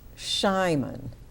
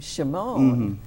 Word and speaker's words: Shimon: the book, uh, I thought it was Shyman. Mhm. Uh when I first was reading the book when he after he was born, but I noticed when I went to the talk that you gave at the library in Westfield, you were pronouncing his name Shimone.